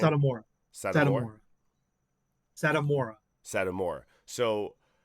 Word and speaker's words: Satomura: Satomura.